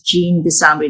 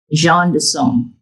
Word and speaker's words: Jean Desambry: But in French, as Philip may know, it's Jean de Song, because it's a French last name together with Jean pronunciation as John, which is John equivalent in English.